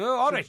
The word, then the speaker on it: Horwich: So it is indeed pronounced Horwich.